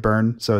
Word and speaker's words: Byrnes: My last name is spelled kind of like David Byrne, so it's Byrnes.